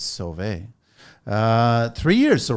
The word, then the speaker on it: Sauve: right sorry construction and it's spelled even though it's spelled s-a-u-v-e that's right it's survey uh three years so right before cobit yes right at the beginning of Kobe January 1st 2020.